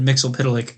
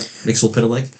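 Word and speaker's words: Mxyzptlk: How do you pronounce it? I said Mixel Pitilik. Yep. Mixel Pitilik.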